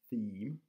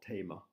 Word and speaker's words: theme: and I just like to help with the pronunciation of this word theme it's not Tama and to explain the pronunciation we need to